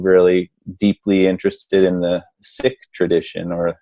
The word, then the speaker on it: Sikh: the Sikh tradition, or Sikh, some people pronounce. But so just so you don't get confused, if you're listening, Sikh, not S-I-C-K, the tradition of being sick, but the tradition of being a Sikh, which is a student of the infinite.